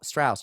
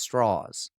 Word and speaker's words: Strauss: it's not pronounced straw Strauss it's straws and he says well it's the southern pronunciation because he's from West Virginia and Abby says straws